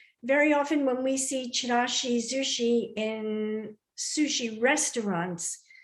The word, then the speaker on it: Chirashizushi: As you can see, I use the Z here, Chirashizushi, which is the way the Japanese pronounce this dish. Sometimes you see it here as Chirashisushi, but this is the correct pronunciation.